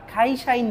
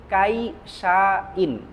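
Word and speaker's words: 会社員: আর খাইশাইন যখন বলব একচুয়ালি কাইশাইন। কাইশাইন। কিন্তু জাপানিজরা ক এর উচ্চারণগুলো খ এর মত করে থাকে।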